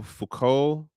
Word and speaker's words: Foucault: Then there's a philosopher dude named Michel Foucault, his name is French. It just the letters don't do anything for how it just is pronounced.